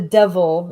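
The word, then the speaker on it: deil: my head until the devil is supposed to it's just it's spelled d-e-i-l so just Devil Without The V apparently in this accent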